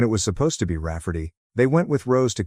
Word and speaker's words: Raferty: name my niece Raferty, pronounced Rafferty and not at all like Rayardy.